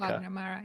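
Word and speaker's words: Wagner Moura: Um uh The Secret Agent, Clever Mendons, uh won best director and Vagna Ma uh I hope I'm pronouncing that. You you can correct me as a Spanish speaker. Vagna Mara.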